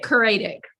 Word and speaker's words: Coraidic: author of the Coraidic Saga, who's, did I pronounce that correctly? I say it Coraidic, but I'm Australian.